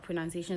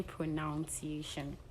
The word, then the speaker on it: pronunciation: Please, you don't say pronunciation. Which I'm even I'm also at fault because I can't remember I said pronunciation when I started saying it. So it's pronunciation. Pronunciation.